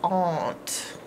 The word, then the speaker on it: aunt: to the park but the proper way to say it is Aunt aunt my aunt is